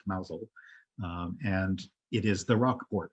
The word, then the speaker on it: Mousehole: tiny little town called mousel um it looks like mousehole but it's pronounced mausel and it is the